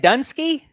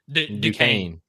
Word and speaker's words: Duquesne: Dunsky? Duquesne.